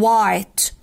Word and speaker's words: white: ليه ماجيك اي بنسميها ماجيك اي؟ ليه؟ عشان بشوفها بس ما بسمعهاش، بقول وايتي، لا بقول وايت وايت. تمام، الاي هنا جايه لونج، يعني ايه الحرف يجي لونج طويل؟ يعني انطقه باسمه مش بصوته. اسم الحرف ده ايه؟ اي. تمام، يبقى هنطقه اي، فأقول white white whiteboard whiteboard. الأو لما يجي وراها إيه بتخليها دايما تتنطق long، تتنطق أو، فأقولها whiteboard whiteboard whiteboard اللي هي السبورة البيضة